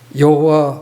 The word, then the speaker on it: 여호와: 이라고 믿고 있기 때문에요 그 흠정역 속에서 번역한 대로 여호와 이게 원래 대로 알려진 발음 이었다고 서 그렇게 받아들이고 있습니다 현대 학자들이 의 그